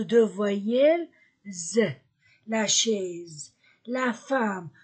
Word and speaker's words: femme: voyelles la chaise la femme ce mot uniquement e se prononce a la femme la fille i l